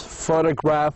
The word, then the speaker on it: photograph: So we stress the first syllable usually.